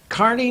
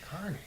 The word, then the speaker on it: Kearney: From there to Kearney, Nebraska. It's pronounced Kearney by the natives, Is not it Kearney. really? Kearney. Carney. Not only that, they spell the town with an E in it,